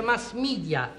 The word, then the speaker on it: mass media: si iscrive mass media ma si pronuncia mass media e inglese sono i mezzi di